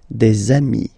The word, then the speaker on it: des amis: And if you make the liaison, so the link between the two, you will get des amis, okay?